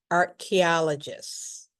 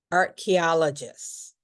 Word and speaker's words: archaeologist: It doesn't look like how we pronounce it. So, the ch has a k sound. Archaeologist.